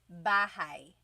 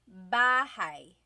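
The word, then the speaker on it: bahay: Bahai. Bahai. You might notice that the spelling is a y at the end. So it looks like bahi, but it's pronounced bahi. That a y combination is bahai.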